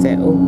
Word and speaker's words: Settle: Settle, that's how you say it, and I've got all